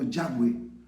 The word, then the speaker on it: Yahweh: Los estudiosos de lengua hebrea creen que la pronunciación más correcta debió haber sido Yahweh.